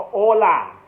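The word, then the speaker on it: Hola: อ่า สวัสดี ครับ งั้น เรียก ว่า โอ คือ H O A นะ ครับ ไม่ ออก เสียง H เรียก ่า ไป เลย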